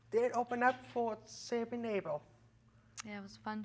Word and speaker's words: Abel: Abel? Yeah. Yeah, we opened up for Saving Abel a while ago.